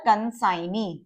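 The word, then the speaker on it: consignee: जो इससे पहले वाली अदर जो आउटलाइन है उसके क्लोज बनाया है, इसको सर्कल एस बनाया, डिप्थोंग साइन आई, और जी हमारा साइलेंट है, एन का स्ट्रोक बनाया और एन के बाद वी वाला वॉवल।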